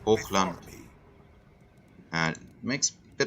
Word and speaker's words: Hochland: So when they try to pronounce this German inspired provinces, Auckland and all of that. So it would, in German we would say Hochland.